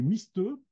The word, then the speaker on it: Misto: Alors, dans Le Rire du Vilain, le personnage, c'est Misteux. Ça se prononce Misteux, mais lui, il l'écrit Misto.